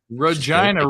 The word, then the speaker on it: Regina: be in Regina oh Regina rhymes with fun ryes exactly I'm excited for